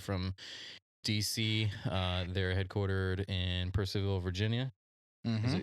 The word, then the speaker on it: Purcellville: Is it Percyville or is it supposed to be Purcellville? I think it's Purcellville. I grew up kind of close there. And that's always how I heard it pronounced.